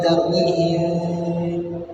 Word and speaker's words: ترميهم: Nah, tapi kalau dari guru kami Syekh Said Harun ini dibaca tertutup. Tarmihim di bacanya tertutup.